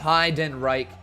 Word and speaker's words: Heidenreich: Pronounced Heidenreich.